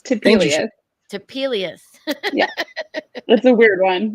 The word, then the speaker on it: Topelius: anthony ancho um cidery rachel how do you pronounce your last names typically to peelius that's a weird one it's new to me